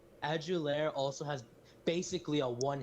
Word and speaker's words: Adulare: him not to mention how'd you add you there right that's how you say his name yep aju lair also has basically a